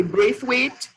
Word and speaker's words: Brathwaite: this as we know the pronunciation is different in the different islands in in um Jamaica they say Brave weight in Trinidad and Bobby